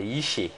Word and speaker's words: Yiché: Merci Jean-Jacques, bonsoir, c'est Yiché. Yiché, voilà.